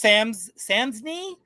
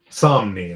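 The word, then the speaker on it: Samnee: And then you look at like Chris Samsney. Is that how you say? Somni, actually. Somni.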